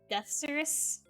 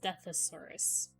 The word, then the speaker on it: Deathsaurus: Deathsaurus? And every time I try to say his name as Deathosaurus. Deathosaurus. Even though the extra A is not in there.